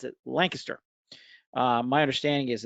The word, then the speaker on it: Lancaster: city spelled the same way Joe except we pronounce it Lancaster uh my understanding is it's Lancaster in the UK as well as it is